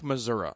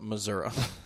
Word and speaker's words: Missouri: passed in Missouri yes I like Missoura I'm going to just call it Missoura I did meet at